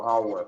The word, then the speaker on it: hour: E isso é o princípio, esse H deles, nesse caso, tem mudo também, como hour, hora.